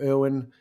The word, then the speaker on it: Irwin: Irwin, as in Steve Irwin, Irwin, and How, as in how do you do, pronounced, but spelled.